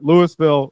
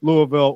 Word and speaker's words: Louisville: can run through the Louisville Louisville or the big just combo syllable Louisville Louisville yeah you kind of pour it out of your mouth you just kind of dump the whole thing just Louisville um the uh yeah